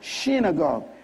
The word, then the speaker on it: synagogue: The word synagogue is actually pronounced synagogue.